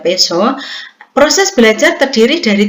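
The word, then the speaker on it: Piaget: Yang berikutnya menurut Peso, Bapak Ibu, tulisannya pijat dan bacanya Peso.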